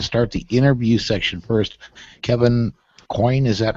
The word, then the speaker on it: Coyne: Kevin Coyne, is that how it's pronounced?